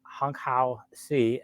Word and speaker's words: Honghao Cai: winners his name is Hong how C and I believe that's how his name is said so it's spelled c-a-i